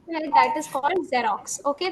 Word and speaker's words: Xerox: और फोटोकॉपी से मिलता जुलता है, दैट इज कॉल्ड जेरोक्स.